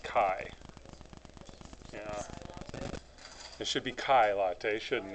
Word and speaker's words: chi: test will tell us it's called it's pronounced Chi it should be Kailai